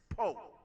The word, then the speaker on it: Powe: And it's spelled Powe, but it's Poe.